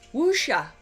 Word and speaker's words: wuxia: it's sort of like how i said wuxia which is wusha usha is that like